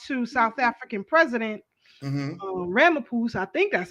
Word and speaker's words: Ramaphosa: Ramaphosa, I think that's how you say his name, to have a sit down with Putin Right.